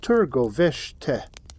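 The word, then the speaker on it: Târgoviște: The confrontation between Vlad and Vladislav came outside the Wallachian capital, Targovište, pronounced Turgoveshte.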